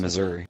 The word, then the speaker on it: Missouri: the same state you're in no I'm in Missouri I was like so you're talking about the